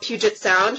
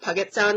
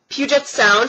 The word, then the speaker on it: Puget Sound: right by downtown Seattle it's called Puget Sound for the for like a long time I called it Puget Sound because I had no idea and my friends made fun of me because I couldn't pronounce it properly so like for a good three four days they made fun of me because I couldn't pronounce it right but it's Puget Sound thank you to um